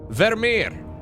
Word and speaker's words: Vermeer: I gotta pronounce that in the most Dutch way possible. Vermeer.